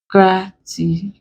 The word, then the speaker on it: gratitude: So this becomes capital GRA, gratitude.